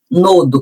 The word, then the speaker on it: nodo: É o método nodo, a inclusive a palavra nodo que vem de nó, né?